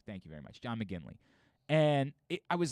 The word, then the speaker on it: McGinley: break uh yes correct when i said his name wrong what the hell is that john mcginley mcgill i said mcglinchey i don't know why